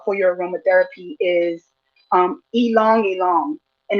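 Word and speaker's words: ylang-ylang: to talk about for your aromatherapy is um elongate and it's spelled y l a n g y l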